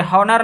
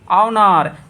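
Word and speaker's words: honor: Honest नहीं, हावर नहीं, हॉनर नहीं, ऑनेस्ट, ठीक है, आवर, ऑनर।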